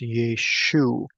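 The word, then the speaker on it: ܝܫܘܥ: letters in the Aramaic, although it is pronounced slightly different. We have the Sere under the Yod, but the Ayin does not have the um, excuse me, the patak underneath it. And so this would be pronounced Yeshu.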